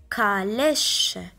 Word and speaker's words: calèche: Le mot suivant, on a A après la lettre C, donc on va la prononcer K, calèche.